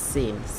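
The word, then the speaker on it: سين: সিন সিন উচ্চারণটা হবে জিহ্বার আগা সামনের উপরের দুই দাঁতের ফ্যাট এবং আগা হইতে উচ্চারণটা হয়, যেমন কি সিন সিন সিন সিন, ঠিক আছে।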